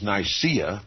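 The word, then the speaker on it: Nicaea: although he convene the First Council of nice that is nysa as some pronounce it dictated the most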